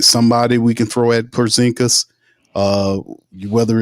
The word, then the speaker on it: Porzingis: how the hell Micah Peavey is guarding uh Pazinski. Wait, did I say his name right? Uh, talking about the the the unicorn. They gave him the nickname unicorn. Porzingis.